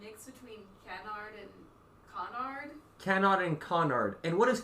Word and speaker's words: canard: French um it's Canard it's Canard that's with an American accent because usually you don't really pronounce the r d it's like can can okay and how did